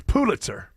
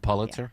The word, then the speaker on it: Pulitzer: prize for Photograph whatever that's not how you pronounced Pulitzer it's Pulitzer it is it truly is not Pitzer it's not Pitzer it's pulit and it's not Pulitzer like I always say it'ser it's Pulitzer Pulitzer yeah so uh there's